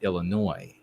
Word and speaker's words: Illinois: And I was corrected, Anglo-America, you also have a silent S on the Illinois with the Illinoisan. Apparently you don't, when you have the IAN, you don't leave the S sound. But it is the same as just Illinois.